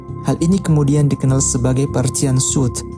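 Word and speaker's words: Parthian shot: Hal ini kemudian dikenal sebagai Parthian Shoot. Dan ketika Anda mendengar ungkapan Parting Shoot, yang Anda dengar sebenarnya barangkali pengucapan keliru dari frase tembakan Parthia atau Parthian Shoot.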